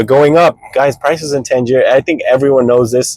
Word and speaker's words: Tangier: Guys, they're moving to Tangier. That's how you say it.